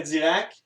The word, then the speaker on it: Dirac: Dirac. C'est aussi simple que ça. Ça s'écrit vraiment comme ça se prononce. C'est pas QUE, là, c'est RAC.